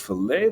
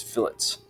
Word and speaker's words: fillet: add our fillets okay not pronounced filet that's uh steak this is fillets so we're going to